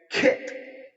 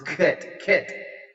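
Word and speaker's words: khet: Well, it's actually, the term is kit, or K-H-E-T, if the pronunciation is perhaps a little off, but that's the spelling.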